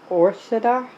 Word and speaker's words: ORSDA: today we are reviewing I believe it's pronounced Ora o r SDA stainless steel cat water